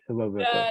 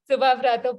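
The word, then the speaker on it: Subhabrata: Am I saying it wrong? You say it, Raunak. No, you were right. The last one was right. Subha Brato. Last one was right. Okay. Yes, Subha Brato from Bengal, Sania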